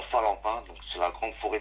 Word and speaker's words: Phalempin: Et donc cette forêt-là se situe à Falampin, donc c'est la grande forêt de Falampin. Falampin, d'accord, ça s'écrit comment, Falampin.